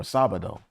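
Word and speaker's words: Sábado: Sabato or Sabado. It sounds like Sabbath, right?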